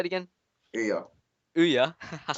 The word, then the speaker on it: Ouya: I should know how to pronounce this. The Oya? Oya? Give me a hand here, Jesse. Ouya.